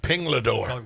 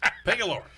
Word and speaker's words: Pingalore: How many years did I mispronounce this name? 2 years? 2 years. Yeah, Pinglador. Call him Pinglador until finally somebody told me. Pingalore.